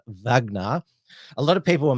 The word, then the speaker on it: Wagner: The other more extreme psyop conspiracy is that the leader of the Russian paramilitary organization, the Wagner private military company, or it's pronounced in Russian Wagner.